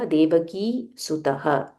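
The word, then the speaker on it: देवकीसुतः: देवकी सुतः देवकी सुतः की दीर्घ देवकी सुतः सो फर्स्ट द ऋषि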